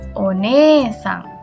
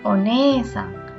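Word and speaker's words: お姉さん: Tapi kalau untuk orang lain berubah menjadi one-sang. Sampai sini paham? Ada oni-sang dan one-sang.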